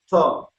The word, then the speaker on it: Kok-Tho: Brother Kok-Tho. I'll just say Kok-Tho. I don't know how you pronounce how do you pronounce? Oh, it's good. Kok-Tho.